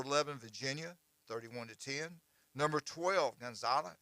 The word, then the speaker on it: Gonzaga: and 13 number 11 Virginia 31-1 number 12 gonzal how you say it g Gonzaga Gonzaga yeah Gonzaga 26 and 11 uh number